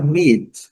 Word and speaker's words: meat: A outra palavra é meat, que é a palavra carne. O A não é pronunciado e o E traz o som do pilo. Meat.